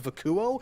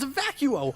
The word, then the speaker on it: Vacuo: a little credible as Vakuo. No, it's actually pronounced Vacuo, like a fucking vacuum.